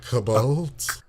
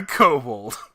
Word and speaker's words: kobold: jobber enemies of dnd the kabul the kobold not the kabobs occasionally kabold spelt with